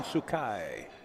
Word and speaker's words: Sookhai: up to the table sean tsukai is how you pronounce his name hooray would like to